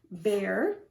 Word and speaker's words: bear: So we have the word bear, pear, and tear. So I represented this B in black, B, because it makes sense. The R, makes sense. But this says the A sound, bear.